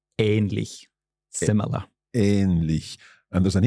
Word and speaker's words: ähnlich: There's also a slightly longer pronunciation of the A. Mm-hmm. For example, in the word ähnlich.